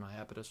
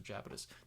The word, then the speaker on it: Iapetus: In the book, they travel to Saturn, one of the moons of Saturn, Iapetus or Japetus, depending on how you want to pronounce it with the I or the J, Latin, blah, blah, blah.